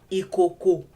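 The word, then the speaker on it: ìkòkò: These are examples of words that only have the do tones on them. On each syllable of those words. Do. And then that's the low one. So if a syllable in a word has the do on it, you kind of have to go low. You have to go low when you say that syllable of that word.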